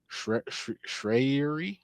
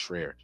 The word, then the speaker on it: Schreier: Um, Thunderbolts director Jake, I believe his name is pronounced Okay. Schreier. Schreier. Mm. I think it's Schreier. He is.